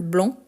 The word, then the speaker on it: blanc: a d'autres mots le blanc donc le C même s'il n'est pas prononcé c'est la marque du masculin le bec ou donc